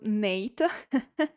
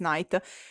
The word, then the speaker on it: Nayt: I'm talking about prima by night who I thought was pron pronounced Nate. No, it's night.